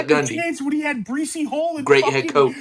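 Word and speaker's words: Breece: He said Bryce Breesy Hall? Hall. This dude is so stupid. It's not. It's spelled like Brees.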